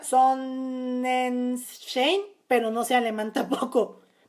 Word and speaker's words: Sonnenschein: Se pronuncia Sonnenschein, pero no sé alemán tampoco.